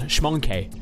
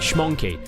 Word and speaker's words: Schmonkey: Yes, schmonkey. You gotta spell it like schmonkey. S-C-H-M-O-N-K-E. Schmonkey.